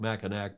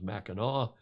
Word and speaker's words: Mackinac: islands that's the cute mackinaw island it looks like mackinac but the indians pronounce it the native americans mackinaw and that beautiful town